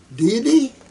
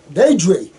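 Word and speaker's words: Deidre: This is Deity? Huh, a realtor, huh? My name is D-E-I-D. Deity? I pronounce Deity. Daedry.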